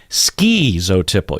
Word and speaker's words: schizotypal: about schizotypal personality disorder ski zotiple you hear that ski in there there's so many different ways and if the psychologists and the people with doctorates on YouTube pronounced it one way then I would say well let's go with that but it's all over the board but for me I don't like to leave out the T for some reason like